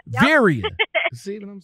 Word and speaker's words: Veriha: It's Veriha. Yep. Veriha. See what I'm saying? Yep. Veriha. Say it like it sounds. Sound like I say it.